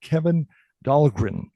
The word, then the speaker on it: Kevin Dahlgren: email from a gentleman by the name of Kevin Dahlgren. Did I get the name pronounced right?